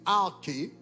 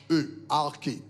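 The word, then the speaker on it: ἀρχή: Le mot utilisé pour principauté dans la Bible, c'est arché, A-R-K-H-E, arché, ok, en grec, A-R-K-H-E, ok, qui prononce arché.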